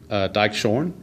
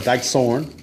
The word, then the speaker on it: Dykeshorn: The H is actually silent, so it's Dykeshorn, or Dykesorn, my bad.